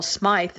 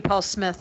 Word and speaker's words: Smyth: realized as you said your name is Paul Smythe that I've been misspelling it I mean mispronouncing it forever i'm sure people must make you paul smith all the time your post myself